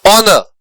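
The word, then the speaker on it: honor: ऑनर, ऑनर के beginning में एच है लेकिन एच का प्रोनाउंसिएशन नहीं होता है।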